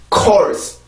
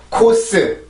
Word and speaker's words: course: 절대 코스, 코스, 코스 이렇게 하면 안 돼요. 반드시 혀가 아래턱이 많이 내려오고 R 발음을 지켜주고 core, core, course, course, course 이렇게 발음을 해줘야 정확한 발음입니다.